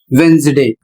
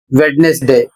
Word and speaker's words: Wednesday: इसमें लिखा है, जब किसी वर्ड में डी के बाद एन आता है तो डी साइलेंट हो जाता है, अर्थात वहां पर आपको डी नहीं बोलना है।